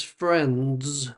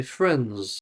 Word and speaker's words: friends: I mean it's spelled friends. But nobody says friends with the D at the end. Strong D sound. They say friends. So the D disappears.